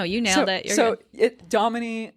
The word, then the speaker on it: Damini: Domini, like Dominique without the eek.